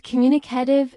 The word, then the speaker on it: communicative: And communicative is comm-m stress on the second syllable as well.